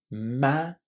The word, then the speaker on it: managed: Even though it's hard try to say it without any extra syllables. If you can't manage to say ch it's a little easier and you will be easily understood. The main thing is not to add any extra syllables here. Managed.